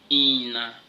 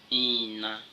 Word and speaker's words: ina: Mas essa palavra, o que eu pronuncio aqui na minha boca, não é o que está escrito. Tá vendo? Você pode pensar que você sabe enquanto não sabe. A palavra fica assim: ina, ina, ina. Mas nós pronunciamos ina, ina. Parece que aí tem o N. Ina. Um pouco nasal, ok? Ina, ina. Mas na escrita não aparece o N.